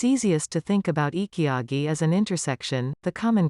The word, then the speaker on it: ikigai: They refer to this as Ikigai, pronounce Ikigai.